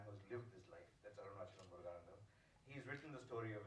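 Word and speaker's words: Arunachalam Muruganantham: point of view, and you've made him portray Arunachalam Muruganan, have I said it right? Arunachalam Muruganandam.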